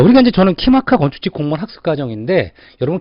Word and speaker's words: KIMACA: 자, 그럼 이 키마카를 여러분들이 보면 키마카라고요. 여러분 그냥 우리 인터넷에서 그죠? 어떤 키마카라고 한글로 쳐도 돼요. 키마카로 쳐도 되고 아니면 영어로 KIMACA를 쳐도 돼요. 키마카 발음 그대로 키마카.